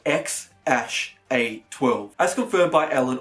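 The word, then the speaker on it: X Æ A-12: myself is supposedly pronounced ex ash a 12 I scooped further by Ellen on the jury report lost I mean it's just ex letter X and then the AE is like pronounced ash yeah and then a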